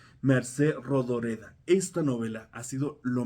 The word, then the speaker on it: Mercè Rodoreda: Plaza del Diamante de Mercé Rodoreda. Creo que sí se pronuncia así. Mercé Rodoreda.